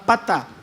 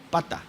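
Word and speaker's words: פתה: infatue del hebreo original es la palabra pata con acento en a no pata de pato pata con acento a esta palabra infatue del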